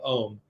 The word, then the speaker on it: Om: activate the power of ohm the syllable is actually two syllables so the o and the m have to have the same amount of time that you're